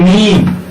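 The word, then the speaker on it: ميم: এরপর হরফটা নাম হলো মিম, নরম হবে, শ্বাস বন্ধ থাকবে, মাকড়াস 15 দিয়ে হরফটাকে উচ্চারণ করতে হবে।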